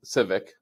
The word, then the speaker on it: Civick: your name pronounced correctly it is and in this Civic like the car right correct awesome thank